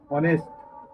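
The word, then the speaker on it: honest: जब आप पढ़ेंगे तो इसका उच्चारण आता है ऑनेस्ट। वोवेल साउंड के अंतर्गत आ रहा है, इसलिए इसके पहले हम एन का प्रयोग करेंगे।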